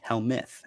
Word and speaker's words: Helmuth: right it's h-e-l-m-u-t-h and it is pronounced hell myth and there you go